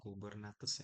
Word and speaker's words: Kubernetes: Jadi ini bacanya Google Kubernetes ya, Engineer atau GKE, menyediakan lingkungan terkelola untuk mendeploy atau mengelola menskalakan aplikasi dalam kontainer menggunakan infrastruktur Google.